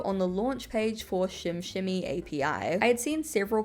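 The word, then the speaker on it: SimSimi: Also, as a disclaimer, I know the way it looks is Sims. Um, but from a couple of things that I've read online, the correct pronunciation is Shim Shimmy, so I'm going to be pronouncing it that way.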